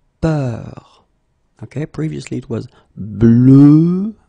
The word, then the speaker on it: peur: more open, and it's peur. Okay, previously it was bleu, so really, really deep, bleu. This one is more open and it's peur.